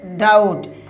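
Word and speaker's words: doubt: এখানে বি লেটারটি silent থাকবে। উদাহরণ দিলে আপনারা বুঝতে পারবেন। দেখুন উদাহরণ কি বলছে? যেমন ডি ও ইউ দেখুন বিটি। উচ্চারণ কি হচ্ছে? ডাউট।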